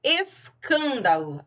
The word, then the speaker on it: escândalo: Escândalo, se eu observar a sílaba tônica, ela é a terceira de trás para frente. Então, ela é uma proparoxítona. E a regra diz que toda proparoxítona é acentuada.